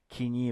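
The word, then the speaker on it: Koine: 60 to 70% of kini. By the way, it's I know uh some uh Americans would pronounce co, but it's a kini kini Greek kin common Greek uh vocabulary is about 60 to 70%.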